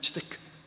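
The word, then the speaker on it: צדקה: 세 번째 아버지 하나님의 마음은 우리가 차데크라고 보통 표현하는데 공의라는 단어입니다. 이 차데크라는 단어가 이제 히브리 사람들, 물론 이제 히브리 학자들이 발음할 때는 치데크 이렇게 하겠죠.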